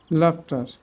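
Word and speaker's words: laughter: আমরা ইংলিশ ওয়ার্ডে ইউ এর পর মানে জিএইচ এর উচ্চারণ ফ হয়, যেমন লাভ, tough, enough, draft, calf, লাফটার, টাফেন।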